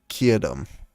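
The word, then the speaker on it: Keoghtom: you know get him apparently it's pronounced kietum 's ointment I give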